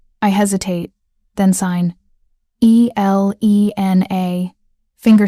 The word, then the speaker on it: Elena: I hesitate, then sign E L E N A, finger spelling each letter. "Elena." he repeats, pronouncing it correctly, with the emphasis on the second syllable.